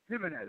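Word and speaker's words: Ximenez: It's spelled with an X, but it's pronounced like with a J. Jimenez. It's pronounced like with a J, as in like the Spanish J or like an English J? Yeah. No, like a Spanish J.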